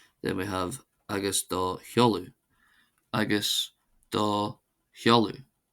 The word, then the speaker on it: agus do sheoladh: Agus do holu. Agus do holu which means and your address.